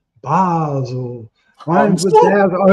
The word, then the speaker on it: Basil: Basel is his first name is pronounced Basel.